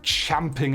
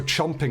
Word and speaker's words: champing: end of my tether I'm champing at the bit I'm also chomping at that bit but mainly champing at it cuz that that's how you say it okay good that was